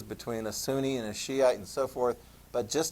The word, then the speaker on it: Shiite: the other variant is Shiite that's how you pronounce that Shiite sometimes referred to as Shia the Persians are